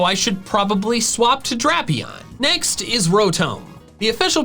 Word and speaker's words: Drapion: Bulbapedia says the first part of its name could come from dragon, drastic, or Dracula, all of which have the short A and thus align with the pronunciation drapion.